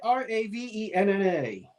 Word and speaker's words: Ravenna: Ravenna.